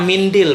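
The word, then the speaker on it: منديل: Rupanya mindil bacanya, bukan mandil ya.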